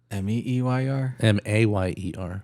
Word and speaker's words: Mayer: Well, if you listen to the song, it's M A Y R. me eyer Well, you know, in